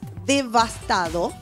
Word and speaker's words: devastado: devastado con bta y sin esa s de